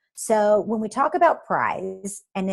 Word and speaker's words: PRISE: So when we talk about PRISE, and it sounds like a winter prize, but it's spelled PRISE, it is based on